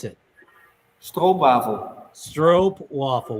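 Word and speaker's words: stroopwafel: pronounce it STW bavel stro waffle with a with a long o a stro waffle what's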